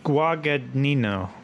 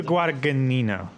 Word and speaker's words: Guadagnino: that he directed that the drunkard guaca-- Nino yes I think that's terrible pronunciation that's name it's just yeah okay this guy Aaron Luca Guadagnino okay why Doug Nina and you saying it slower doesn't help I've seen the Scarface